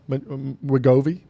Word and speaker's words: Wegovy: Ozempic, Wegovy, Mounjaro, Wegovy. That's the proper Okay, pronunciation. Wegovy, Ozempic, these fantastic weight loss drugs that are absolutely blockbusters.